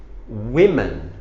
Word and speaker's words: women: You change this from A to E, so those women, and you pronounce it a little bit different. Woman, women.